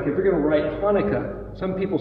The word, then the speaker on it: Hanukkah: And it's actually pronounced as a guttural Hanukkah.